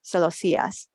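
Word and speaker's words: celosías: Celosias with an accent on the I. Celosias.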